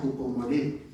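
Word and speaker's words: ὑπομονή: Dice, se llama o se pronuncia jupomboné. Y jupomané no solamente significa paciencia, sino mantenerse firme en un lugar.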